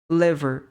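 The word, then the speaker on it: liver: Ok então por exemplo aqui a gente não fala li a gente fala le Lever Lever kidney kidney Então não é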